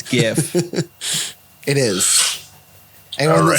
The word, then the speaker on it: GIF: bad that was really bad for the record it's spelled gif it's gif it is anyone that says different is wrong